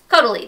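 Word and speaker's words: Caudalie: talked about the cuddly cuddly that's how you pronounce it cote de lis cuddly I think um micellar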